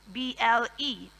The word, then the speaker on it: insatiable: of the pronunciation of insatiable. So, not insatiable, not insatiable, but the S makes the sound sh and not s. So, insatiable.